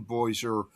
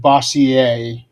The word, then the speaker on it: Bossier: Actually, I think that's pronounced Bossier. Bossier, yeah, because it's supposed to be French. It's Yeah, Cajun. I think it's Bossier.